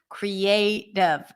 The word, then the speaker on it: creative: um for example creative the word creative the a is the primary stress cre is a full vowel is a pure vowel so we treat it as a secondary stress creative and then the last